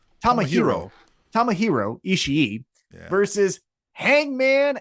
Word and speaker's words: Tomohiro: Tomohiro.